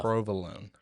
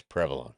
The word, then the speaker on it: provolone: oh say it right but uh provolone it's prolon provolone prolon uh but uh yeah g